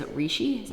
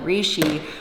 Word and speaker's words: reishi: The main one in this is reishi. Is that how you say it? Reishi?